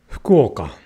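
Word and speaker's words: 福岡: Fukuoka. Not fu. Fukuoka.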